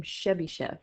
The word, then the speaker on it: Chebyshev: You pronounce his last name Chebyshev.